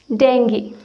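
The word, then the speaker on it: Dengue: कोई डेंगू बोलता है या कोई डेंगू बोलता है, लेकिन इसका सही प्रोनाउंसिएशन है डेंगी। क्या है? डेंगी। ओके, इसे डेंगू या डेंगू नहीं कहते हैं, इसे डेंगी कहते हैं।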